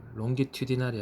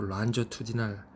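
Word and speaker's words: longitudinal: 그래서 그거를 란저투디날이라고 이제 발음하죠. 롱기튜디날이 아니고 란저투디날.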